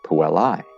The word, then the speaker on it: puellae: we pluralize that in english one puella many puellae that's how you pronounce it by the way one willa many